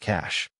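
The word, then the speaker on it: CSH: One soldier informs me, "Ma'am, we are in the process of setting up a cash combat support hospital, pronounced cash, a modern military field hospital, because of the numerous casualties."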